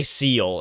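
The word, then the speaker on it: Seele: uh ceo uh their their name is like ciele well it's spelled seed but if they if they always they just say seal in the anime what the heck were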